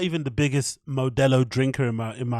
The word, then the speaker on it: Modelo: ] Latin culture right you should have an understanding of how Modelo is pronounced it's just one of those things that you kind of just understand right but modella one more time uh